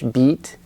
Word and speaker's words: beat: the Korean II but your tongue it's longer in English beat and then bit it's shorter but your tongue is more relaxed your tongue is a